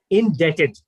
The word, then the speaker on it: indebted: pronounce the other word that is the word d-e-b-t-d-e-d is dead so how will you pronounce this word indebted you owe someone something